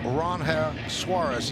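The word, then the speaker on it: Ranger Suárez: Now, when he was announced here at a press conference, he did say his name is pronounced Ron Suarez.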